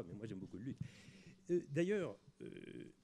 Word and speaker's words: luth: Vous, je ne sais pas, mais moi, j'aime beaucoup le luth. D'ailleurs, à ce propos, une petite remarque. Il ne faut pas dire le luth. Il faut dire le lu. C'est une question de prononciation ancienne.